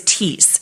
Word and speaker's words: Thiess: first name it's because my last name is tease t-h-i-e-s-s and nobody can ever remember how to say it correctly or spell it correctly